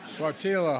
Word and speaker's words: Sáttítla: I mispronounced it the first time. Sáttítla Highlands in Northern California.